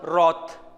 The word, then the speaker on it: wrath: in spite of wrath we can pronounce roth w-r-a-t-h one pronunciation w is silent roth his work nature